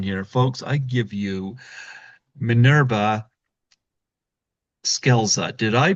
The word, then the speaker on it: Minerva Scelza: Folks, I give you Manurva Skeleza. Did I pronounce that right?